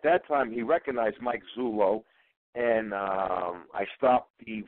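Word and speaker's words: Zullo: and when when Mike Zulu stepped out Mike Zulo I have to watch my pronuncation of zulu I've been getting emails that Zulu is a tribe in Africa and I'm well aware of that Mike Zulo came out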